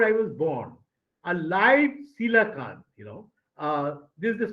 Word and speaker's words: coelacanth: In 1938, 3 years before I was born, a live coelacanth, this is the spelling by the pronunciation, coelacanth, okay?